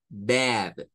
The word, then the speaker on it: bad: vocal se hace corta Entonces el sonido es a es el sonido a es el sonido donde bajamos con la a y subimos con la e pero en el mismo momento a Ay B Bad Bad es esta no es bab porque si usted dice bab solo está haciendo la primera parte del sonido solo está